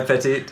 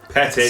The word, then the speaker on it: Pettit: No, it's not Petite. I keep saying Petite. I'm now that you've offended me, I'm going. .. Pettit. Pettit, I'm sorry. It's spelt Sorry. phonetically, man. Come on. I'm sorry. Phonetically. 2 T's.